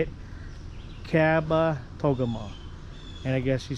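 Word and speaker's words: Kabetogama: I asked the ranger how to pronounce this and apparently it's Kaba Togam. Cabba Togam. So Lake Caba Togeama. Caba Togeama. Lake Visitor Center. So that's how you say it. Caba Togam.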